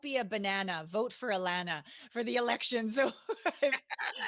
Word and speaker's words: Allana: And so and she told me before we got on how to say her name. Allana Banana.